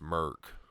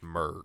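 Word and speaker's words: Mörk: Yeah, I mean, whatever that, which I read it in the book that it's pronounced Merc. The first part is Merc.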